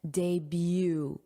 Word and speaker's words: debut: And notice that pronunciation, debut, beau, day, debut, debut.